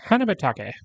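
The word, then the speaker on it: 花畑: Together, they make hanabatake, or flower garden.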